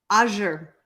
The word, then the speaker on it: azure: And that, oh, Jeannie says it is French. The A sounds like ah. Azure means blue in France. Who knew? Azure.